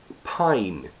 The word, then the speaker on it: pine: ridiculous so next one pin should be I but in a word it's I pin magic e comes in hi I'm magic e becomes pine pine if you think